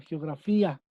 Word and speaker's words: geografía: g un gran sí hay una ruptura de diptongos muchachos en la separación de la sílaba en la palabra geografía por posición de la sílaba tónica esta palabra es grave me van a decir